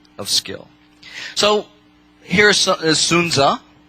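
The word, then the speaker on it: Sun Tzu: college sunu and a lot of people read sunzu apparently and apparently but it's actually pronounced correctly sunza right i' that's something else I'd learned in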